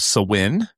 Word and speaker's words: Samhain: It comes from a festival of Samhain, and it's spelled Samhain. So it's pronounced differently than it's spelled. Yeah, definitely does not. Yeah, it doesn't look like that.